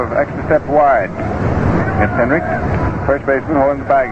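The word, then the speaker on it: Henrich: is pronounced is all the final letter is a k although it's spelled hn r i c h Henrik was really pounding that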